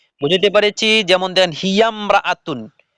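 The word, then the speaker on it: هي امرأة: যে লেখা আছে দেখেন ইমরাতুন শব্দের আগে অন্য শব্দ হলে আলিফটি শুধু লেখায় আসে উচ্চারণে আসে না বুঝাতে পেরেছি যেমন দেখেন হিয়ামরাতুন উচ্চারণ হবে হিয়াম রাতুন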